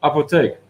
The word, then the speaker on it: apotheek: The Dutch word for apothecary is so similar to English, but the syllables are different. What is it then? Apotheek.